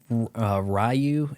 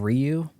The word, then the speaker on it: Ryu: My circle of friends, we called him Ryu instead of Ryu. It is Ryu, right?